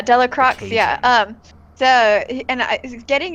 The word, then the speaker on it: Delacroix: you say his name telic rocks like Wow Delacroix French yeah yeah Delacroix yeah the and is